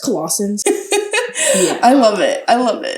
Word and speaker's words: Colossians: Today we have, is it pronounced Colossians?